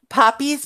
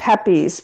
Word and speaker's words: Pepe's: Poppy's Pizza? Spell it. Pepe's, Pepe.